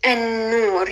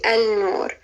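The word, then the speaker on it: النور: If you wanted to say the light, you would say an-nur. You wouldn't say al-nur.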